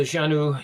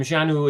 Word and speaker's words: Xanue: on the Facebook the Janu UK Forum Janu is spelled x a n u e but pronounced as Janu with a J uh jeanu XU Forum